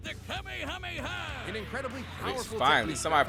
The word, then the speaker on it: Kamehameha: It helps that he knows so many cool combat moves, like the Kamehameha. An incredibly powerful finally, somebody pronounced it right, bro.